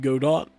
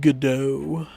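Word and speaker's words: Godot: o t a lot of people pronounce it God do it's pronounced gdo um BM I usually code on like Visual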